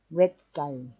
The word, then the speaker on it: Gestalt: Gestalt es una palabra alemana adaptada hoy día en el mundo entero, ya que no tiene equivalente exacto en otras lenguas. Hemos acordado pronunciarla como en alemán, Gestalt, también porque hemos acordado